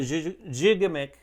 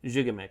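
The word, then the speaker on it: Gigamic: you've ever played a jigamik is the correct pronunciation by the way jigamik not makes all these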